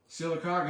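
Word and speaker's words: Sylacauga: that's just southeast of silaga yes uh silaga is a funny name if you're not from Alabama you probably wouldn't pronounce it that way if you saw it written out so that's right I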